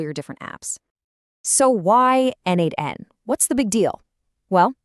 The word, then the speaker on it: n8n: It's pronounced N8N, by the way.